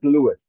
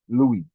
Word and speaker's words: Lewis: Lewis and he pronounces he pronounces it Lewis my middle name is also Lewis but I pronounce it Louie um Lewis is the